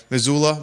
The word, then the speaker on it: Missoula: How does it spell? Missoula. Is it? It's probably Missoula. Thank you. How do you How do you spell it? I think you're right. Missoula. M I S O U L A. Missoula. We'll go Missoula. Missoula, Montana. All populations ranging from 210,000 to roughly 245,000.